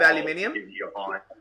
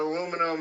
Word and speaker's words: aluminium: And is that sitting on a bit of aluminium? Is that sitting What's on that? Is that sitting on aluminum? As the Americans say. Yeah, it's just the aluminum is just there just to kind of, I don't know.